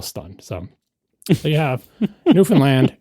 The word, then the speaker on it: Newfoundland: So, there you have Newfoundland. It rhymes with understand in case you ever want to know how to pronounce it.